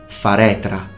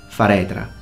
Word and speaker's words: faretra: It's only one R, so don't over-exaggerate it in pronunciation, like guerra. Guerra is strong, like Ferrari. Double R, stronger. That's when you show off, if you can roll your R. But in this case, it's just one R, so it's faretra, faretra. Just one short trill.